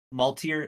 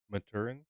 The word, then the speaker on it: Maturin: so that was interesting and then the uh multier or how do you say his name again Maturin Maturin I will try to remember that uh